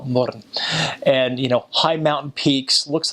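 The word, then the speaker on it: Mürren: You go in the north, they've got a place called Little Switzerland, called Murren, which is spelled moron, but call it Murren.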